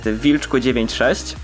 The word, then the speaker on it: Wilchq: To jest Wilczku96. Jej, pisze się przez CH, ale czyta się Wilczku.